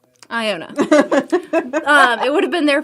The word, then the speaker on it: Iona: Iona.